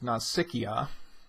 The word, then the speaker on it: Nausicaa: The hardest part is how do we pronounce it, and I've seen Nausicaa. Nausicaa. I'm going to stick with Nausicaa. I think that makes the most sense, and as I research pronunciation, I found that to be rather prevalent, so that's what we're going to use, Nausicaa.